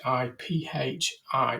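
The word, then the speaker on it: HiPhi: finally hiy I'm I'm never very good at pronouncing that one it's hi Phi sounds more like some Laboratory um algorithm there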